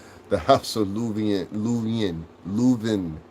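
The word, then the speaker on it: Leuven: Louven. Louven. That's how you say it.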